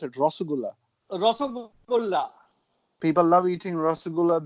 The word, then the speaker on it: Rasgulla: Rasgulla or how do you pronounce it? Rasgulla.